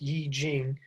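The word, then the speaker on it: I Ching: The name I-Ching, pronounced Yi-Jing, literally means classic of changes or book of changes.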